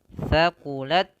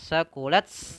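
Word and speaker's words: ثَقُلَتْ: Saqulat ya, tidak sakulat enggak. Tidak juga ya, tapi dia ada sifat hamas di taknya tapi sedikit saja. Saqulat ya, saqulat saqulat at at at at.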